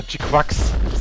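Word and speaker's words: GQuuuuuuX: They actually pronounce it like G-Cax or G-Quax. They say it like G-Quax or something.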